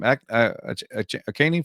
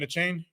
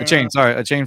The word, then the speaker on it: Achane: I think they were talking about I can't mispronounce the name. Akaney from the Dolphins. Oh, Devin Achane? Yeah. Achane from the Dolphins.